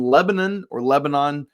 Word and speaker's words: Lebanon: He's a 5-star, class of 2026, from Lebanon, Ohio. Depends on what state you're in, how you pronounce that word, Lebanon High School, but